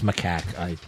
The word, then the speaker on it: macaque: Sorry, it's macaque. Macaque. I mispronounced it, trying to correct your mispronunciation.